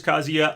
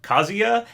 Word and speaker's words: Kazuya: at the sakurai presents i keep calling him kazuya and i'm pretty sure that's the right way to say his name though sometimes i hear people say it with a long oo like banjo and kazuya i don't think it